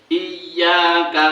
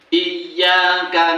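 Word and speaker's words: إِيَّاكَ: Tapi kadang-kadang banyak orang membaca iyyaka na'budu. Nah, itu para imam loh ini, para imam banyak membacanya hanya iyyaka na'budu wa iyyaka nasta'in. Nah, itu kurang tekanannya. Iyyaka na'budu wa iyyaka jelas, buat. Iya, nekannya jelas.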